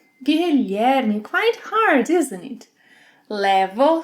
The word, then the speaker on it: Guilherme: Can you pronounce this name? Guilherme. Guilherme, quite hard, isn't it?